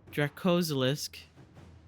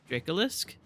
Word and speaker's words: Dracolisk: The Dracosilisk... Dracolisk? I think I added extra syllables in there.